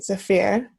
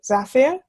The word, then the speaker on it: Zafir: say his name um as far as I've heard there are different pronunciations depending on you know where you're from um but I would say Zafir um but I also have friends who say Zafir so one of those